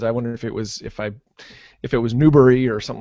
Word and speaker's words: Newberry: Newberry, just like strawberry. Okay, Newberry, just how it sounds. I wonder if it was Newberry or something like that.